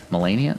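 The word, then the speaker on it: Malenia: So, when it comes to the Michel's liies here, we have to ask, are the Michelis liies here because Melania's army Mellennia?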